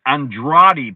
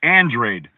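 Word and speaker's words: Andrade: So, it's, you know, you can't just look at a name and think you know it because guys, you know, Demetrius Andradi, but it's Andrred. It looks like Andradi, right?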